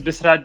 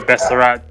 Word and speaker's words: Bisrat: So my name is Bisrat. Most people say my name Besserat, so that's fine if you call me Besserat.